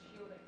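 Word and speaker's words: Scylding: Rosar is uh your shielding pronounced shielding.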